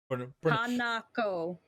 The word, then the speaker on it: Hanako: What's the actual pronunciation? Hanako. Okay, so the pronunciation is Hanako.